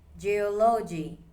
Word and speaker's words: geology: Example number three, geology. This stress is on O the second syllable.